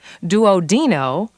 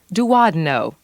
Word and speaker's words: duodeno: pain in the pharynx the next element is commonly pronounced two different ways duodino and duodeno in either case it refers to the duodenum or the duodenum whichever pronunciation may be used in your specific location ureter refers to the